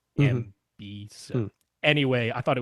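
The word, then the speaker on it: Emby: to be Media Browser, but it's not MB like the letters MB. They spell it out like EMBEE, MB.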